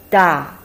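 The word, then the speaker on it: 大: you once say something is big you say da for example we learned ma in previous video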